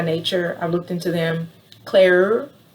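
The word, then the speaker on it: Cleure: i looked into them claire claire i think that's how you say it c-l-e-u-r-e i looked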